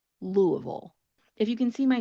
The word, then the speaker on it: Louisville: So this isn't going to be perfect, but a local from Kentucky or from the South is not going to call it Louisville. They're going to say Louisville. Louisville.